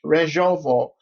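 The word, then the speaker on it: Rzeszów: area around the re Rejovo um airport. The Jazzona, this is an airport I should say has got two names. Jaziana is the village. Rejov is spelled R Z E S Z O W um is a southern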